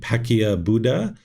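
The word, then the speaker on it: Paccekabuddha: This is often times pronounced many different ways. I pronounce it Pacquiao Buddha, but there's many different ways that people will pronounce that.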